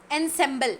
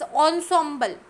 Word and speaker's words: ensemble: uh one more Ensemble we never never pronounce this as um and symbol it's Ensemble Ensemble always okay so the sound